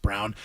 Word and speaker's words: Braun: Um, it's spelled Braun, pronounced Brown.